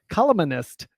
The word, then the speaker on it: columnist: Say it like it's spelled, right? Columnist. But right, But it's columnist.